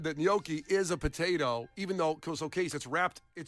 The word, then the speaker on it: gnocchi: to the NBC Tower and said that gnocchi is a potato, even though, so Case, it's wrapped, it's like mashed potatoes wrapped in a pasta.